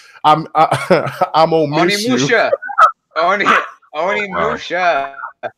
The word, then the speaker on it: Onimusha: He says, "I don't miss you" is not pronounced. I'm on miss you. Onimusha. It's Onimusha.